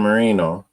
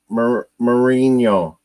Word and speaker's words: Marino: r i n o you say it more like Dan Marino but they always are Marino marinho like no there's no oh yeah